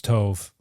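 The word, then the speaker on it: טוב: Well, because tove is spelled tet vav bait. Okay. And a bait can be pronounced as a b or a v. Okay. And so, um here it's it's tove.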